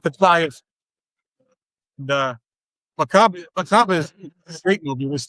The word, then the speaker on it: Macabre: He hawked his house, he borrowed what money he could, and he made a film called Macabre. Or Macab, however you want to pronounce it.